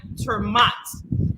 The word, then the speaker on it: Ter Maat: gonna speak to mike termat he said to pronounce it as m-o-o-t or m-o-t so that's what i'm doing i'm hoping i'm saying it correctly and uh he's the libertarian who's running for district 20.